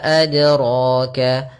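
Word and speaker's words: أدراك: Kemudian yang kedua menambahkan hamzah, misalkan wa ma adraka, ini kurang tepat juga karena dia menambahkan hamzah di dalam huruf dalnya. Maka langsung saja wa ma adraka, kemudian pada lafal ra ditebalkan adraka, ra.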